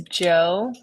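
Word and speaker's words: Djo: Um but his name is Joe, but it's spelled DJ O.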